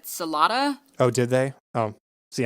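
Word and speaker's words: Celotta: Which I did want to say, we have been mispronouncing her name. We finally heard them say it in the commentary. We say Solota, but everyone in the commentary said Solata.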